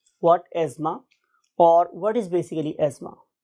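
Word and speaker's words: asthma: यानी कि अगर आप सही प्रोनाउंसिएशन सीखेंगे तो ये एज़मा है, लेकिन बहुत से लोग इसको एज़मा और बहुत से लोग इसको जोर लगा के एस्थमा भी कहते हैं, but true pronunciation is एज़मा, right.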